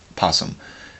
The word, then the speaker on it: opossum: Like I said, in America, we pronounce all our letters except for in possum, because there's an O in front of possum, so it should be opossum, but 1 Pot of Avarice, the happy-go-lucky pot.